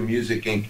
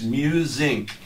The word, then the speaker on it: MUSINQ: Matt Sorum did that when we first started to Music Inc. That isn't it. It's Musinc, short for Musicians Inquiry.